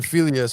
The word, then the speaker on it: philia: How do you pronounce the next one? Is it philia?